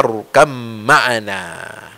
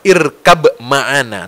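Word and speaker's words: ارْكَبْ مَعَنَا: Maka Nabi Nuh berkata kepada putranya, ya bunayya rkam ma'ana. Nah ini cara membacanya juga bukan irkab ma'ana, tapi ba yang hurufnya mati, ya, huruf sukun, ba-nya irkab dengan ma'ana itu digabung jadi menjadi apa?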